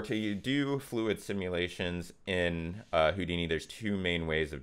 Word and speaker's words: Houdini: fluid nodes, because these are relatively new to Houdini. Why did I say it like that? Houdini.